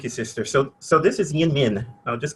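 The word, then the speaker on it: YInMn: It's pronounced yin min, something like that.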